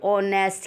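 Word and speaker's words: honest: बट जब हमने देखा इसको रीड किया किसको, एच ओ एन ई एस टी को, तो एच यहाँ हो गया साइलेंट, तो जो आवाज़ आई वो किसकी आई, ऑनेस्ट की, और ओ क्या है आपका वोवल, इसलिए हमने यहाँ क्या फिल किया, एन ऑनेस्ट बॉय।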